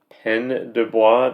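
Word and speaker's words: Pène du Bois: the 1948 winner the 21 Balloons by William pen deis did I pronounce that right correct okay yeah all these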